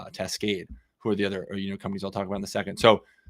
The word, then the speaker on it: Tascade: And then finally, last but definitely not least, John from Tascade, pronounced correctly, which I messed up beforehand, but I got right this time.